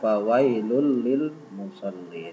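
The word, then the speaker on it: فَوَيْلٌ لِلْمُصَلِّينَ: Setu lisannya seperti itu tetapi didalam hukum tajwid kita membacanya fawailul Lil mushollin Hai tanwin bertemu dengan lam bacaan idghom Bila Ghunnah masuk dengan berdengung fawailul menjadi fawailul Lil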